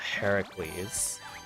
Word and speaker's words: Heracles: Yeah, I thought Hercules was the Greek name, not Heracles.